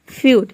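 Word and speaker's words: feud: पे 12 हो जाएगा यदि किसी वर्ड में इ यू एक साथ हो तो इ यू को हम यू प्रोनाउंस करेंगे जैसे कि देखिए यहां पे है फ्यूड फ्यूड मतलब होता है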